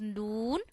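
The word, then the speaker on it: نون: pronounciation la this is noon and while reading noon we have to touch our tongue to the roots of our upper four front teeths this is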